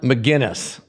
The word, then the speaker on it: Magennis: Wood and welcome Shan mcginness thank thank you for having me rhymes with Guinness that's right a good